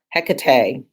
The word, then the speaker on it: Hecate: It's spelled with a K as in Hecate, and the name is pronounced Hecate.